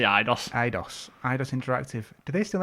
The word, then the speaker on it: Eidos: I always say Eidos.